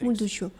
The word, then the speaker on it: Motorsåg: Motorsåg. Motorsåg. Motorsåg. Then unstress. Do. Såg. Motorsåg. Motorsåg. Motorsåg. Motorsåg. Motorsåg. Motorsåg. The second Motorsåg. syllable here is totally Motorsåg. unstressed.